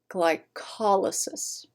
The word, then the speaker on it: glycolysis: Okay, usually, but not always in science, you emphasize the third from last syllable. Again, not all the time, but it's a good kind of usually, like more often than not, slightly more often than not. So while it's the word roots glycolysis, you emphasize the third from last syllable, glycolysis.